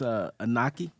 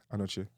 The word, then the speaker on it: Anochie: Should I try to pronounce his last name? It's Anochie. Anochie.